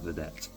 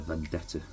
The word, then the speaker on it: Vedette: I'm sure it's pronounced Vedette. I was calling it a Vendetta.